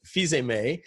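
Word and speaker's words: Fils-Aimé: you want to know who's known as fiz uh Reggie fiz uh that's how he pronounces his name he's the uh he's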